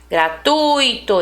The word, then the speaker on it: gratuito: Gratuito, esse tui aqui é a sílaba tônica, é a sílaba mais forte, tá?